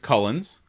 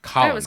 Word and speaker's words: Collins: Cullens, played by Diana Rigg. Is it Cullens or is it Collins? Collins. I'm sorry, Collins. Collins. I keep saying it wrong.